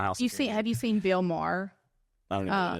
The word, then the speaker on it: Maher: Wait, Bill Maher. Maher. But he pronounces it Mar.